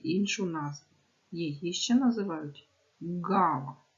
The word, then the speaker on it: ґава: назву її ще називають ґава вимовити це слово ґава ґава який звук Ви чуєте перше він скаче наче м'ячик значить це приголосний звук Бо в ньому утворюється